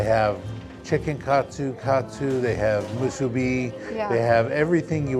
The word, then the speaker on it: musubi: you do see this, my friends on the mainland call this musubi. It's not musubi, it's musubi. That's how you say it.